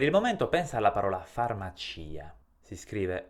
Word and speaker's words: farmacia: sentito che io ho pronunciato anche la i farmacia pronuncio la i perché su questa i si trova